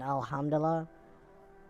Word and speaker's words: alhamdulillah: do mm-hmm yeah one more syllable in alhamdulillah and it's alhamdulillah that is when you